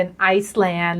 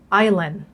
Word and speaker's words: island: ออก เสียง ผิด เนี่ย ก็ คือ จะ เป็น ไซแลน หรือ ว่า อแลน นะ คะ คำ ถูก ต้อง ก็ คือ Island Island เนี่ย เห็น มะ คุณ อาจ จะ สงสัย